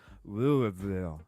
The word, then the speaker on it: Louisville: When you call it Louisville because you're from the north, and you call it Louisville, and they say, no, that's not how you pronounce it. Well, how do you pronounce it? Louisville. What? Louisville. Oh, okay. So you got to say it like you got marbles in your mouth is what you're saying.